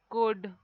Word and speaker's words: could: So you can write should, would, could. Here all L is silent in these words.